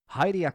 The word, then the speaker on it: Hylia: The reasoning thus being that if the Hai sound from Hairaru is translated to a high pronunciation for the English term Hyrule, then that same translation logically also applies when translating the Hai from the Japanese Hylia to the English Hylia or Hylian.